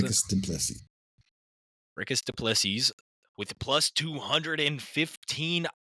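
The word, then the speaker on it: Dricus Du Plessis: Will it be, what is it, Draco Duplessis? Is that how you pronounce it? Dricus Duplessis.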